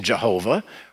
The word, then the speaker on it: Jehovah: word we don't know if the first letter is pronounced j as in jehovah or if it's pronounced y as in yahweh it can be pronounced either way that little bit of